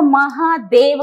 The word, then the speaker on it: महादेव: है जादो ठीक है उसी रूप में अगर वो महादेव कहता है ए की मात्रा आती है तो व को साइलेंट कर देते हैं इसलिए महा देव को महादेव कहा जाता है मध्य का व साइलेंट